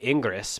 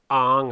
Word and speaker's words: Ingres: It looks like Ingres, but that's not how you pronounce it. It's Ang or Angre, depending on who you hear pronounce it.